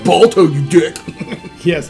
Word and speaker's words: Balto: It looks like the beginning of Belta. And that's the Brave Little Toaster startup. And there's going to be a million people going, it's pronounced Balto, you dick. Yes, Balto.